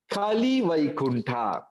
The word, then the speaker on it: Koili Vaikuntha: Koili Vaikuntha means, it is way they pronounce, it is actually Kali Vaikuntha.